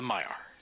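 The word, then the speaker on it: Maiar: has like I'm sorry you're asking about the Mayar did I say it wrong no you said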